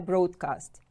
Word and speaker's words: broadcast: Now you can see a broadcast. To broadcast, it is a verb. It means spread information to become widely known. Broadcast. Broadcast. Stress is on the first syllable.